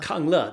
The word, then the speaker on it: Kungla: Did I pronounce that correct? Kungla? Kungla. That's very close. Yes. Okay.